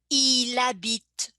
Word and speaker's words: il habite: And same thing in the pronunciation, I connect il with habit. So the L is connected with the word habit, and the H, initial H being silent, you would say il habite. Il habite. Il habite où? Il habite où? And bit, it, I don't pronounce the E, but I do pronounce the T.